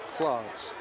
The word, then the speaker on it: Claus: And another extra point attempt by Mike Claus. He's told by Coach Arnold, it's pronounced just like Santa pronounces his last name, even though it's spelled a little differently.